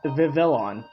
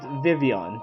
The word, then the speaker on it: Vivillon: watched the anime and I thought it was pron uh pronounced Vivillon or vilon and then I found out it was just vivon the L's are silent it's like oh okay